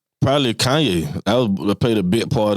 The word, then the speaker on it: Kanye: i said before i even knew how to pronounce the name like that was kane west that he had the accident i seen